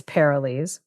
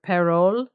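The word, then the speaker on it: Parolles: Uh I think it's Perilles. It's apparently French origin per because they or perole because they they wouldn't pronounce the s at the end.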